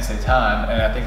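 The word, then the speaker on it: seitan: make it happen there is a protein called Satan I believe it's spelled let's see s e i t a n Satan and I think it's like 21 G per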